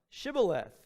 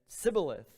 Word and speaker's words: shibboleth: would say to him say now shibboleth but he said sybileth where he could not pronounce it correctly then he seized him